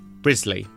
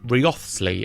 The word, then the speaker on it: Wriothesley: have picked up on, Thomas Wriothesley's surname is pronounced Wriothesley. To the untrained eye, its spelling would suggest that it's pronounced Wriothesley, and in fact, in a few audiobooks, I've heard it pronounced that way, but that is very much incorrect. It is Wriothesley.